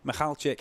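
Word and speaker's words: Mikhalchik: And he says, Duncan, just drop the K. Imagine the K is not there. That's how you pronounce my name.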